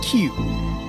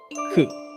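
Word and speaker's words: 九: 9 is a number that's an unlucky number, because in Japanese it's pronounced Q, and it sounds like the onomatopoeia or the sound that someone makes if they're choking.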